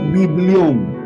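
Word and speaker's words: βιβλίον: Pues bien, amado hermano, la palabra Biblia deriva de un vocablo griego que se pronunciaba como biblión.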